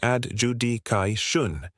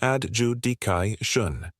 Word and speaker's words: adjudication: Many learners say adjudication. The correct pronunciation is adjudication. The third syllable is D, not D. Adjudication.